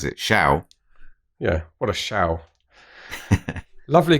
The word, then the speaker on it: Schow: Wouldn't necessarily guess that's pronounced Scowl, would you? I would. Would you? I would, yeah. How would you pronounce it? Shao?